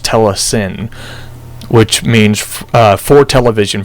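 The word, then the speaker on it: telecine: uh what you call it tend I said telesign before but it's properly pronounced Tes s which means uh for television from Cinema rush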